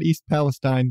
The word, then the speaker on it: East Palestine: yeah if you don't know about the East Palestine Ohio and I've learned it is pronounced Palestine not East Palestine but East Palestine Ohio train derailment where Trains